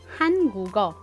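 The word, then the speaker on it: 한국어: So, for example, sa word na hangugo, which means Korean language, sa halip na hanguk o, ang basa sa kanya ay hangugo. Hangugo. Nagiging connected ang patchim na G sound plus O, kaya nagiging hangugo.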